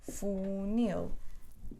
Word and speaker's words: funil: e ela o por exemplo animal o quintal funil o bom então animal um animal quintal funil três sílabas duas duas aqui segundo a regra o